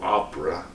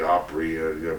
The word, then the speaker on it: Opry: But Tom Dooley, you pronounce his name the same way the Grand Ole Opera, O-P-R-A. It should be Opry, but anyway, Dooley is that mountain slang word for his name.